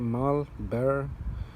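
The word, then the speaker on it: Mahle: as ones I'm using you pronounce it Marlboro where they're called after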